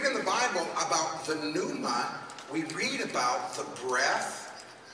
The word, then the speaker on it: pneuma: We might say it's pneuma, but it's actually pneuma. The P is silent.